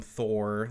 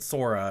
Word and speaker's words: Sora: Like they called him, like first they called him Thor. Like I said Sora, and they were like, "Oh, Thor, that's a cool name."